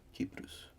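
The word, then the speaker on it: Κύπρος: The Greek pronunciation, I believe, is Kypros, or Kypru.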